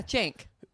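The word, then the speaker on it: Cenk: my gosh wonderful yeah yeah uh siic yeah Jank yeah but it's it's spelled Cen K but it's pronounced Jen Jank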